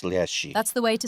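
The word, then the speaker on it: леший: And it's pronounced Leshy. That's the way to say it. Is it Yes, milk related Leshy. at all? You said it. No, not leche.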